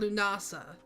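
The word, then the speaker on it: Lughnasadh: So, Lammas is the more colloquial name for a holiday in Gaelic called Lunasa, which is spelled with a lot of G's and H's. It is not spelled the way it's pronounced.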